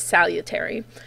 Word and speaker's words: salutary: Then what kind of adds into this, or sort of goes along with it, is salutary neglect, and that's how you say it, salutary.